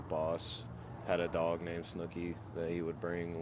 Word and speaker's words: Snuki: We're here at the Auto Bar with, is it pronounced Snuki? Snooki.